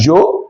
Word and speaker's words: yo: Now, as you're advancing in Spanish, you can always remove Joe. You can pronounce it as Joe. You can pronounce as yo.